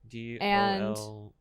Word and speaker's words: Dolce: DOLCHE. CE. CE. Why is it pronounced?